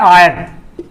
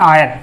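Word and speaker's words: heir: का उच्चारण यहाँ चल रहा है, एच का उच्चारण हो रहा है, जबकि एन आयर, एच ई आई आर, एन आयर, यहाँ पे जो एच आया है, ये जो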